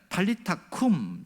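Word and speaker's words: טליתא קום: 그러니까 탈리타 쿰, 이것이 원어의 발음인데요, 소녀야 일어나라 이런 말인데, 놀라운 것은 이 탈리타 쿰, 이 말은 마가만 기록했다는 사실입니다.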